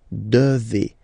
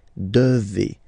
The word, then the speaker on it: devez: Remember, classic ending for vous here, EZ, but then you pronounce this combination of two letters, et, devez, devez, vous devez.